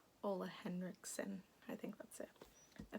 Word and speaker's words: Ole Henriksen: Also I use the Ole Henriksen, is that how you say it? I always forget. I always thought it was Ole Herskin, which doesn't make sense. There's an N in there. Ole Henriksen, I think that's it.